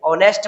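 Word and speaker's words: honest: हर्ष दुर्गा ठीक है ऑनेस्ट word हो गया तो ये साइलेंट हो गया इसीलिए यहां पे क्या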